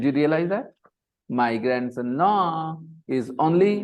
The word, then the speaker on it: Laurent: My grandson Laurent is only 9.